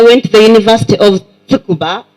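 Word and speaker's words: Tsukuba: in Japan I went to the University of tukuba it's called TS so tuuba that's how you pronounce it and I speak some Japanese anybody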